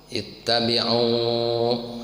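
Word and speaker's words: اتَّبِعُوا: Ittabi'u. Nah, kemudian kalau di wasol dari ayat sebelumnya nih. Qala ya qaumi ittabi'ul mursalina ittabi'u. Nah, i-nya jangan diucapkan. Kalau di wasol ya.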